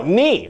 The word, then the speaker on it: knee: No, knee. I said knee. But you want a K in there. The K is silent. You don't say the K.